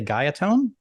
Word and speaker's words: Guyatone: Japanese guitar I I I don't want to mispronounce the name but I want to say gatone that's right um two make there were two